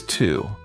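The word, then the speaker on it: two: Next is 2. This one is a little tricky. It's spelled T-W-O. The W is a bit quiet, so you just hear the 2 sound.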